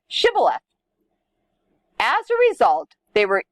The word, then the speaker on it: Shibboleth: According to Scripture, they said Sibboleth instead of Shibboleth.